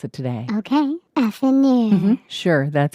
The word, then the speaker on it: affineur: You pronounce it today. Okay. Affineur.